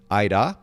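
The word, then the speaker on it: Aira: It's spelled A-I-R-A, Aida. So like with the R is rolled, but it sounds very similar to your name.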